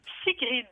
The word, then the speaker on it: Sigrid: Comment je dois prononcer, Sigrid ou Sigrid? Sigrid. Sigrid. Ça vient d'où ce prénom, Sigrid? Ça vient de région scandinave, ça s'écrit S-I-G-R-I-D.